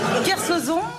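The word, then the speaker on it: Kersauzon: Claire Soljon, c'est Oh, plus dur. Kersozon. Ah bah Kersozon.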